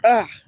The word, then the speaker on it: UGH: How do you say, ugh for that person?